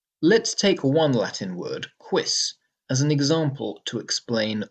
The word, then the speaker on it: quis: Well, yes, but it's a one-syllable word, quis. That's because the U in this word is not acting as a vowel. Instead, it's acting like a consonant W, like English W. The word isn't pronounced quis, it's pronounced quis.